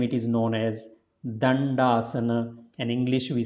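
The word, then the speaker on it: Dandasana: So it is, you see there are two D, but they are pronounced differently in Sanskrit. Not the same way. So first one will be pronounced here as a the. So you put the tongue in between, pull it back when you say it.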